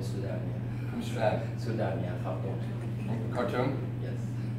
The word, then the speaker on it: Khartoum: Sudan, yeah, Khartoum. Khartoum? Yes. How do you actually pronounce it? Khartoum.